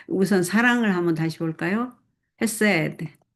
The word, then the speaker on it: 헤세드: 여기 헤세드 사랑, 인애가 사랑이고 정의가 뭔지 봅시다. 정의와 공의가 우선 사랑을 한번 다시 볼까요? 헤세드 히브리 말로 헤세드 헤세드 이 C 발음은 안 하네요.